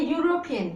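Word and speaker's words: European: Again ए यूरोपियन. यूरोपियन में ई silent हो गया आपका. मैंने आपको कहा you have to concentrate only on the sound. ठीक है, यहाँ पे यूरोपियन य आ रहा है तो दैट इज इट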